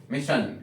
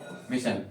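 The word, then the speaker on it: mission: example के तौर प मिशन क्या पढ़ोगे इसको मिशन तो ध्यान रखेंगे स्पेलिंग में एस एस आई का कॉमिनेशन बने तो आपको सन का आपको प्रोनंसिएशन करना होगा उसके बाद में कुछ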